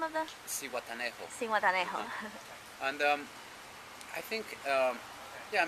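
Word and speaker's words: Zihuatanejo: How do you pronounce the name of the? C.U.B.A. Cihuatanejo.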